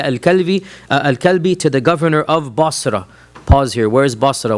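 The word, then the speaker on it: Busra: Any reference of Basra, which is how it's pronounced, in the Sirah literature is to a small town south of Damascus.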